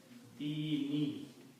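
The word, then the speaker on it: دِينِ: So what we do, we pronounce this noon with a kasra also. So this word becomes dini.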